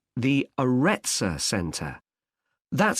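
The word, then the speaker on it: Arretsa: okay there's one more place you might be interested in that's got a rather strange name it's called the aretza center that's spelled a double r e t s a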